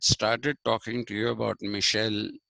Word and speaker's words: Michel: yesterday i had started talking to you about michelle foucault m-i-c-h-e-l michelle f-o-u-c-a-u-l-t foucault it's pronounced that way michel foucault is a frenchman